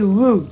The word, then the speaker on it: roux: minute or so and this is called a roux this is a room it's not spelt room it's spelt it's a french word right and we just